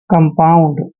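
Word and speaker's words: compound: न और आउंड जैसे सी ओ एम ऐसे कम और पी को प पढ़ना है और ओ यू एनडी को आउंड पढ़ना है ऐसे आउंड कंपाउंड देखिए अब बी ए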